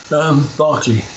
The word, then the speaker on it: Berkeley: It's pronounced differently in English. Berkeley.